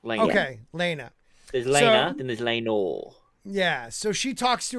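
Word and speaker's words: Laena: wife Elena Elena just Elena just like Elena but without the a at the beginning okay Elena there's Elena yeah so she talks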